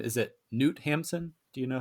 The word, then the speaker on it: Knut Hamsun: Is it Newt Hampson? Do you know how? K-N-U-T? I think they do pronounce the K. Yeah. So it says, Ask the Dust contains thematic similarities to Knut Hamsun's 1890 novel Hunger.